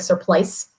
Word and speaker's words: surplice: It's spelled like surplice, surplice, metal zipper.